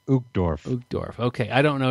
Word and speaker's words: Uchtdorf: Uchtdorf. Uchtdorf. Okay, this is from our friend Dieter. Dieter F. Uchtdorf.